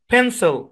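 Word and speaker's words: pencil: এই দ্বিতীয় অংশটা আনস্ট্রেস যেহেতু এটা আনস্ট্রেস সুতরাং ভাওয়েলের মূল সাউন্ড আই এর শর্ট সাউন্ডের পরিবর্তে এখানে সো সাউন্ড ব্যবহার হবে তার মানে এই শব্দের উচ্চারণ হবে ফেন্সেল মানে আপনারা ভাবতেছেন যে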